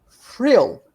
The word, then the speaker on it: Vril: I told her that in German, when you write vril with a V, it's pronounced frill, because it's a German word, and V is pronounced as an F for us.